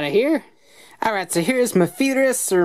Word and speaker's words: Mefilas: Alright, so here's Mefilas, or Mefilas, or whatever you want to call them in terms of pronunciation. The actual kana is Mefilas, so take that as you will.